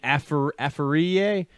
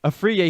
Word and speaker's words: Afriye: And Pat, I'm going to mispronounce his name, Afariye. He's Afriye. It took me all 4 years to get that one right. Pat Afriye. Afriye, he's 4.5 sacks away from the all-time sack leader at Colgate.